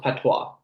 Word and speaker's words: patois: It's pronounced patois.